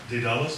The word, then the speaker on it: Daedalus: Tell us about the, is it Daedalus Publishing Company? Is that the correct pronunciation? Daedalus. Daedalus? Please tell us about it. Daedalus.